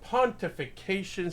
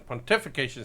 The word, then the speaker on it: pontification: on episode 2 of Pontification Station. Pontification Station. There you go. I put the wrong emphasis on the right syllable sometimes, so it is pontification, not pontification.